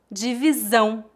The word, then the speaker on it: divisão: O acento til indica que esta sílaba é a mais forte. Divisão, divisão.